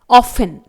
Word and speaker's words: often: तो जी सबसे पहला वर्ड कुछ इस तरह से है ऑफन, स्पेलिंग है OFTEN। यहां पर 10 ये वर्ड आया हुआ है 3 लेटर वाला, जिसमें T लेटर साइलेंट रहेगा। अगला है लिसन, LISTEN। यहां पर T साइलेंट रहेगा, इसे हम लिस्टन प्रोनाउंस नहीं करेंगे।